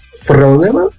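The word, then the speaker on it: φρόνημα: Então, a palavra phronema pode ser escrita com P, H, R, O, N, E, M, A, com acento agudo na primeira sílaba.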